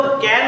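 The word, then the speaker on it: can: তো ক্যান না উচ্চারণ হবে খ্যান, খ। উচ্চারণ হবে খ। তো আমরা যেহেতু সবাই ক্যান বলে অভ্যস্ত, তাই না? তো আপাতত ক্যান বললেও সমস্যা নেই, কিন্তু উচ্চারণের ক্লাসে কিন্তু কি বলতে হবে? খ্যান।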